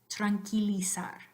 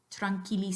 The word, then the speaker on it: tranquila: Spanish verb Frankie Saturn the U is silent so you after a Q is silent you don't want to run Queenie side but just drunk Lisa so repeat after me the correct way tranquila tranquila side so there's